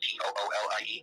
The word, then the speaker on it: Thule: to call themselves the Thule, like Thule, but pronounced Toolie.